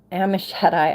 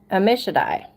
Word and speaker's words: Ammishaddai: Ahiezer, the son of Ammishaddai. I don't know why I trip on that every time. Ammishaddai. I feel like that's right. Because I know like El Shaddai. I know how to pronounce Shaddai.